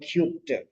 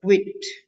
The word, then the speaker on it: quit: pronouncing it properly okay it's not cute it's a quit quit quit that's it so practice the sound quit like a quiet quiet quiet quit Okay so next second